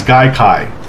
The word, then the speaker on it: Gaikai: I'm pretty sure I said it right, it's Gaikai. Sounds like conjunctivitis or some kind of infection you would catch.